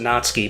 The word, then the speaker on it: Natsuki: whose name is apparently not ski is the one I don't like icky not-not-not suit you're supposed to pronounce it not ski but because Nazi yes you're supposed to be